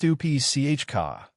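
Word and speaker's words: Stupice: Tomato 16, Stupis. Pronounced Stupi Chka.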